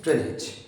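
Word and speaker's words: drainage: डैमेज, हम generally as को देख के एज पढ़ने लगते हैं, डैमेज, मैनेज, ड्रेनेज। ना, इट्स a wrong. The correct pronunciation of these words are डैमेज, मैनेज, okay, ड्रेनेज।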